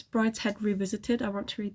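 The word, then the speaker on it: Brideshead: also want to read I don't know whether you pronounce this Brides head or Brides shed I think it's brid's head Revisited I want to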